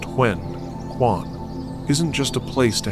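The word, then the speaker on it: 玄关: This crucial area, often called the foyer, or in fune, the huen kuan, pronounced hwen kuan, isn't just a place to hang your coat.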